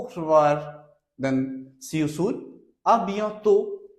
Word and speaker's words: à bientôt: À bientôt. À bientôt. Last T will not be pronounced.